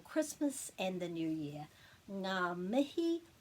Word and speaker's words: ngā mihi: to make sure that you knew how to pronounce it and what it means. So this is ngā mihi, and you're probably familiar with that.